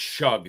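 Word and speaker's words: Shough: It's pronounced shug. So, I'm sorry. Tyler Shug, not shook or whatever I was saying.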